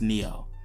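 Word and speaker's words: NIO: And yes, I know it's pronounced Neo, not Nao.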